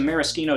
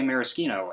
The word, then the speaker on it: maraschino: Now, if your ears just pricked up, yes, I did say maraschino, and no, I'm not mispronouncing it. You see, a maraschino cherry and a maraschino cherry are 2 different things.